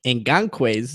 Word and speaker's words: Ngakoue: Before I go into that, I actually looked up Yannick Ngakoue's name on a highlight reel because I'm like, how do you pronounce this guy's name?